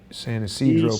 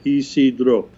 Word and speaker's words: San Isidro: There was a shooting recently at the how do you pronounce this? San Isidro. San Isidro port. Yeah, Isidro.